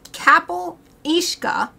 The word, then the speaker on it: Cabyll-Uisge: like half an hour looking up the pronunciation for this it's KAAL ishka in the Isle of